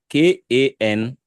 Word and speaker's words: Kanmi: Komi is Kanmi.